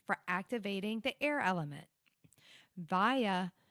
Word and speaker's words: Vayu: Vaya, it's spelled V-A-Y-U.